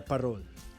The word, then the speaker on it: parol: yuletide warmth then the parole parole is filipino for lantern parol pronounced with a rolling r came from the spanish